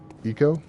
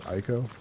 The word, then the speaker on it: Ico: Eco. The game that everyone pronounces as Ico.